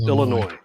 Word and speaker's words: Illinois: This is Illinois. Illinois. Well, Or for Becky's some of the taking a quick rednecks, trip. Illinois. Or maybe it's Becky's sister. The S is silent.